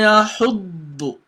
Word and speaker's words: يَحُضُّ: So for you to be able to pronounce the dot perfectly, you've got to assume you're pronouncing 2 dot. So you're having a dot with sukun plus another dot with the dhamma.